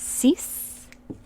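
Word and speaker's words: sis: just like in french six is cease cease like that cease because remember that i sound is e seven is set set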